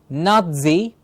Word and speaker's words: Nazi: The Battle of the Stalingrad was fought between Nazi. Please remember, N-A-Z-I is pronounced as Nazi with a T in the middle, like a T-Z sound in the middle.